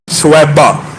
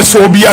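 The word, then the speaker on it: ثویبہ: سویبہ، جس کو بعض اردو دان کم علمی کہہ لیجئے یا عربی تلفظ سے ناآشنائی کہہ لیجئے صوبیہ کہتے ہیں۔ صوبیہ اور سویبہ میں زمین آسمان کا فرق ہے۔ ان کا اصل نام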